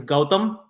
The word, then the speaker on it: Gautam: me by and you remember my first name remember the gotham city my name is gautham it's gotham with a